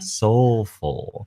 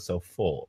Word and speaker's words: Soufl: So today on the show, we have Soufl, pronounced soulful. I like the soulful, like there's an L in it instead of so full, right?